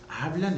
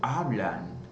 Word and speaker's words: hablan: Olha, quando eu digo hablan, que terminou com a letra N, em português, a nossa tendência é nasalizar essa letra N, né? Dizer hablan, tá? Ou hablan, não. Em espanhol, nós vamos pronunciar a letra N, tá bom?